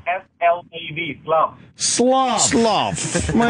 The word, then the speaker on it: Slav: It's S-L-A-V, Slav.